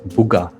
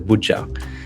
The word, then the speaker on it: Buja: They actually instead of a J had made it a G. Booga instead of Buja.